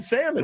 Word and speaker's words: salmon: L and salmon. What does it do? Nothing.